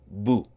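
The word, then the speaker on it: بُ: of the letter and the pronunciation of the letter would be boo so the first line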